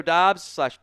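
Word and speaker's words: Doubs: Uh Romeo Dobs, Dubs, he both pronunciations.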